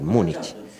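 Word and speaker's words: Múnich: Munich, la pronunciación correcta en español, Munich.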